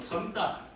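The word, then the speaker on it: 젊다: 막다 뭐 점따 뭐 나이가 절다가 아니라 점따 그지?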